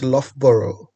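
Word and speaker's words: Loughborough: and in particular we at lboro University it's pronounced lboro lboro University in the UK in search of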